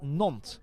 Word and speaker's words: Nantes: It's pronounced Nantes.